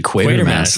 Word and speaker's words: Quatermass: I thought it was quarter mass and you just wrote it wrong but it's actually quater mass. Okay. That's how they say it and it that's not stopping me.